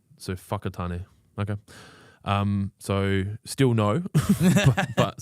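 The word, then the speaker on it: Whakatāne: Mudge says wa is pronounced fu in New Zealand. So whakatane.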